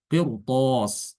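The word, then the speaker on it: قرطاس: Qirthos juga dibaca tebal.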